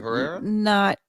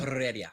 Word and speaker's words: Heredia: Is it Herrera? Not Okay. good. Heredia. Yeah, not good Heredia. for me. Okay. Yeah, So You gotta roll the R's though.